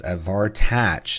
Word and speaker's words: Avartach: Avartach is how you pronounce it.